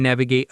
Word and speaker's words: navigate: street or you can navigate a tricky social situation. Exactly. Both involve finding your way through something. The pronunciation is navigate. The stress is on the first syllable.